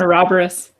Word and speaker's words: Ouroboros: It's an Ouroboros. Ouroboros, yes. That's that how you say that? Maybe Ouroboros. I've been mispronouncing it forever.